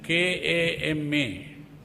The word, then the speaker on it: kama: But some people spell it wrong as K-A-M-A. So if you say K-A-M-A, it is not kamma, it is kama. It has a different meaning.